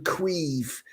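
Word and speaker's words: Caoimhín: name shivorn spelled s-i-o-b-h-a-n our very own queef kelleher c-a-o-i-m-h-a-n that's definitely someone after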